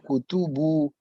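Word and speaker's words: كُتُبُ: Bapak bacanya kitab, padahal itu Kutu. iya. Tiga. Iya. Jadi gimana, Pak? Aina kutubu.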